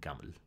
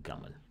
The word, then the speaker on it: gaml: So in Sinaitic, these would have been pronounced alp, bait, and gamel. But the signs were reinterpreted to stand not for the whole sound, but for the first sound.